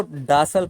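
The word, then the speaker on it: docile: देखिए इसको डासल पढ़ना है, डासल। ओके, स्पेलिंग अलग है, प्रोनाउंसिएशन थोड़ी अलग है, ठीक है।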